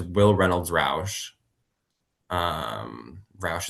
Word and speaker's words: Rauch: Roush is spelled Rauch.